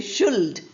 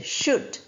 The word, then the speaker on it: should: And should. We don't say should. We say should.